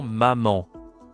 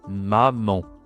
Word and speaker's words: maman: Le plus important, c'est tout simplement maman. Nasal, hein. Maman. Mom en anglais, hein. Maman. Donc attention, ici c'est pas maman hein, c'est maman.